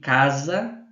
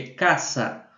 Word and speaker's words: casa: com a minha pronúncia, no espanhol não existe o som do Z. Esse som de casa não existe, é caça. No espanhol sempre tem esse som de SS. Quando você está pronunciando o o S. Não tem um som de Z como no português, tá?